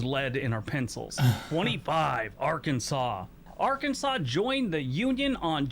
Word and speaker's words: Arkansas: used to use lead in our pencils 25 arkansas arkansas joined the union on june 15 1836